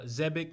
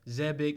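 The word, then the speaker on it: Xebec: saying that um uh zebek and i've been saying it wrong this whole time zebic may be the father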